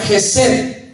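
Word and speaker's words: חסד: Es una palabra que se pronuncia Gesed en el hebreo.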